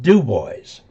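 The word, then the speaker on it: Dubois: Boys in Wyoming it's spelled dub but they pronounce it duboys there's a city up in Colorado Central Colorado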